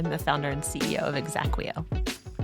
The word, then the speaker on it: exaqueo: I'm the founder and CEO of Exacquo. Exacquo. Spell that for the audience. E X A Q U E Oo. That's exactly how it sounds.